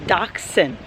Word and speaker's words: Dachshund: the history it's pronounced dachshund it's a German word uh dachshunds were I